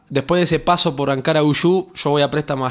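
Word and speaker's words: Ankaragücü: Primero Ankara Guyu es la pronunciación, que quiere decir la fuerza de Ankara.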